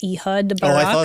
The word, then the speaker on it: Ehud Barak: I don't know how to pronounce this. Ehud Barak. I thought that said Chud.